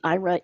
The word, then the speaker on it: Aira: covid dash promotion and ira is spelled a i r a so that's ira